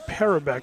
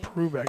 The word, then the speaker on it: Perbeck: center fielder for Sarah daviso calls him perbeck so we'll go with that instead of perc I like perc better yeah that's how I pronounced my last name if I had it but perbeck sounds good just you know yeah